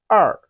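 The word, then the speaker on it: 二: to remember this number just like when you got a punch in your stomach you say er because it pains you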